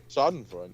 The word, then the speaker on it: Schadenfreude: How do you pronounce that in the German? Schadenfreude. Did I say it right? Schadenfreude, yeah.